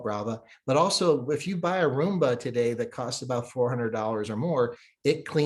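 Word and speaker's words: Braava: Now it's called Brava, so it rhymes with Roomba.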